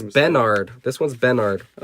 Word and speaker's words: Benard: has like had a burr yeah so it's bennard this one's benard i like ben hey tyler